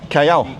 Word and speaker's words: Calle: There's no L in it. A double L is a Y. Calle.